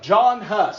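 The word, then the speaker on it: Jan Hus: A man by the name of John Huss. I know it looks like Jan, but it's pronounced John.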